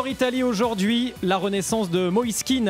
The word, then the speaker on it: Kean: Est-ce Moisken ? Qu'est-ce qu'il en dit l'intéressé ? On l'écoute. Non, moi je l'appelle Moiskin.